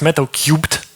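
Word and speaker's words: Metal3: And really, the last thing I wanted to showcase today is a new project, which is called, it's pronounced Metal Cubed, so in cube, essentially, because of conflict with another project name.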